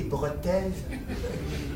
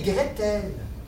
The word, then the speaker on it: Gretel: et Brotel c'est et Gretel ben là il y a pas de grands méchant l dans et Grelle non c'est PASC et Gretel ça se prononce enc et gr c'est pas breton c'est allemand les frères grim tu